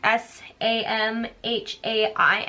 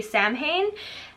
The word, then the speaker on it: Samhain: is actually based on a Celtic holiday called Samhain. Everyone pronounces it wrong. It's S-A-M-H-A-I-N, so a lot of people say Samhain.